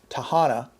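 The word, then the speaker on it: Tehama: And I bring this up because this tells you and I that if you live in this county, Tahana, believe it, that's how it's pronounced, Tahana County, you're on your own beginning November 20th.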